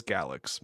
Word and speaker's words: Galxe: It's pronounced like galaxy without the last y sound. So it is galaxy.